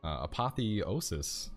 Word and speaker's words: apotheosis: let's jump into it we're going into apotheosis apotheosis yeah there we go that's how we say